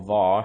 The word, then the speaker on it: var: But basically using var, or var, however you want to pronounce it. I just say var because that's how I say variable. But yes, var is the old way of doing things.